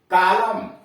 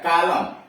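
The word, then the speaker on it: column: का उच्चारण न है, लेकिन जरा यहां देखिए, COLUM, कालम, देख रहे हैं, कालम, यन गायब है, उच्चारण नहीं हो रहा है। COL यम यन, YUM कालम, यानी यन का उच्चारण इसलिए नहीं हो रहा है कि यहां उसके पहले यम आया हुआ है।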